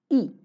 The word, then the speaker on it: y: E. Why? Y is pronounced as E, means and uno means 31.